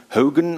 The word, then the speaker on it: Haugen: Language shift that was put in a model by Einar, and now I try to pronounce it in a Norwegian way, Haugen, I think it is.